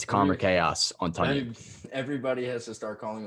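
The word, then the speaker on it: Tonyan: Pronounced Tunyon, not Tanyan, for those who didn't know.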